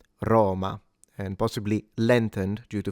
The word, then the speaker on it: Roma: So within standard Italian diction, this is supposed to be a closed O rather than an open O.